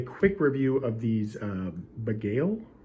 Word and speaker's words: Bagail: review of these uh beigail I believe that's how you pronounce up a gale packing